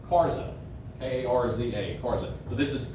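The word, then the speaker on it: Karge: It's spelled like Cards, but it's pronounced Karza, K-A-R-Z-A, Karza.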